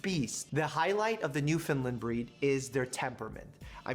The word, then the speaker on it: Newfoundland: A Newfie is a Newfoundland. And I know it sounds like I'm saying New Finland, but I'm saying Newfoundland in a way that it's properly pronounced.